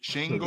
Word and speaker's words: Şengün: Get his name right, Ron. His name is Sangoon. There's an accent on the S. Sangoon. It's like Laroon. SH. It's like SH. Shangoon. Yeah, Sangoon.